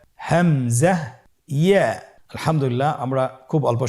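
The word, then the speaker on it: همزة: হামজা হরফটি উচ্চারণ ক্ষেত্রে বারিক করে উচ্চারণ করতে হবে এবং এখানে টেনে পড়া যাবে না, দ্রুত পড়তে হবে। আপনারা আমার সাথে বলুন হামজা। হামজা। হামজা হরফটি উচ্চারণের স্থান হায়ের মতোই।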